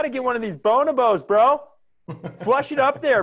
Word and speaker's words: bonobos: of the primate family I believe it's pronounced bonobos or Bona vows bone above bo n OB os bonobos which just so we're